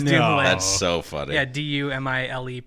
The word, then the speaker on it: Dumile: Yeah, Dumile, pronounced Dumile.